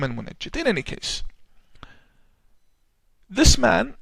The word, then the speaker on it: Al-Munajjid: His name is Al-Munajjid or Al-Munjid, depending on the pronunciation. The Yemenis call him Al-Mungid or Al-Munajjid. I call him Al-Munajjid.